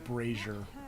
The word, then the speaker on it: brazier: I also just really want to point out, I believe when referring to the thing that holds fire, it's pronounced brazier.